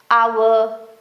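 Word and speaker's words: hour: बस आप ये सेट ऑफ स्पेलिंग्स लर्न कर लो कि ये जो वर्ड्स हैं इनमें एच साइलेंट ही होता है। Honest आवर honourable.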